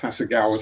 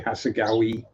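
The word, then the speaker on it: Hasegawa: Or as certain people who can't pronounce Hagawa say Hagawi. Why it ends with an A? Why would you put an E there?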